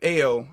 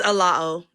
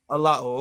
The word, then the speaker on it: Alao: Ao, I believe is that how it's pronounced, sister? Okay. It's Alao. Alao.